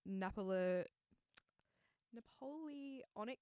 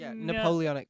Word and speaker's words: Napoleonic: that basically prevented women how do you say it no i was like very are you like napoleon i was like what's this and you're like napoleonic code napoleonic so i actually didn't